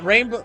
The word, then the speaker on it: Rainbough: No, rainbow. No, we'll go with rainbow because rainbow as it's spelled in this game is already a pun.